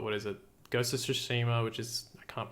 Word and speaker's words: Tsushima: You know, they've got, what is it, Ghost of Tsushima, which is, I can't pronounce that, Ghosts of Tsushima.